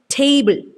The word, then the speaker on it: table: Okay, so tay is uttered with more force than the second syllable. So it's pronounced as table.